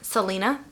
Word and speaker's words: Salina: how do you say your first name Selena Selena mm-hmm boom I did it I just now anyway so you got some stuff coming up and look her up you have a website I do Selena song will link will link all of that